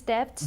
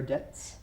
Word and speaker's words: debt: His debts. their debts. Their debts. Debts. Debts. Good. So debt is spelled D-E-B-T, like Debt. debt, but we don't pronounce the B.